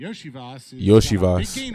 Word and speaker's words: Iosivas: And Iosivas. That's how you pronounce it.